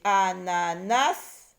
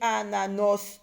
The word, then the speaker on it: ananas: J'ai dit ananas. Oui, mais est-ce que je dis ananos? Non. J'ai dit ananis? Non. J'ai dit ananas.